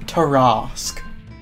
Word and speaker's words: Tarrasque: I'll have you know it's pronounced Tarrasque.